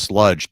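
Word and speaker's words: Slugdge: heard a band called uh it's spelled it's pronounced sludge but it's pronounced uh s or it's spelled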